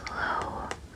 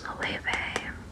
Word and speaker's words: Loewe: I looked it up when I was editing the last one, which I was pronouncing as low, but it's Loewe.